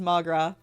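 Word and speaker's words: mo ghrá: like a pronunciation please Irish for my love one dialect would pronounce it as magra come on magra uh I don't even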